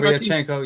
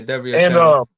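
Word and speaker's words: Derevyanchenko: Derevchenko. Yeah, Derevchenko.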